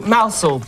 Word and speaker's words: Mousehole: Pronounce Mousehole as in Chairman Mao, which is very helpful.